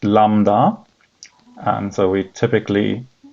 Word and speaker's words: lambda: + 3 so this back slash here is pronounced Lambda and so we typically say Lambda X2 X